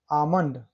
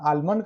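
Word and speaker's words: almond: आमंड, एम के पहले एल, देखिए आमंड। आलमंड कहाँ पढ़ते हैं हम इसका, आमंड।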